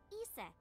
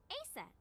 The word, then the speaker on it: Isis: Horace's mom is named Isis, but in ancient Egyptian, it's pronounced closer to Ise or Ase.